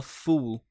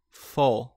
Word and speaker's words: full: Muita gente pronuncia ela errado, tá? Muita gente fala fool, fool, que é isso aqui, ó. Tolo, idiota. Mas você vai falar assim, ó. Full, full, full.